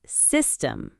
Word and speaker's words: system: And system, system. Stress on the first syllable too.